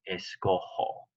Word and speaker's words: escojo: Escogo doesn't match escoger, so it would be escojo. The J in Spanish is an H sound.